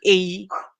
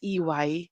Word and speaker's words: EY: people who call us who calls or company AE okay so it's not a it's e y because it stands for Ernst and Young okay